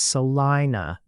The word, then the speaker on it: Salina: The common Kansas usage is Salina as Salina and Saline County as Salem.